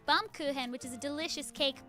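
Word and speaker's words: Baumkuchen: say and they're like oh it's German it's like bum kuhan which is a delicious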